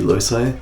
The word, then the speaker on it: loci: A lot of people pronounce that differently, but I looked it up and apparently it's meant to be loci.